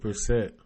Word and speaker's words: Brissett: Jacob Brissett.